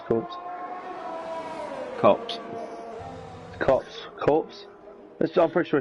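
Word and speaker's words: Copse: She spun it a corpse. I think it's corpse, isn't it? Yeah, it's corpse. Cops.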